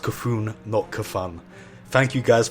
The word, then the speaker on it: C'Thun: by the way I've got the message it's pronounced c'thun naka Fong thank you guys for wearing that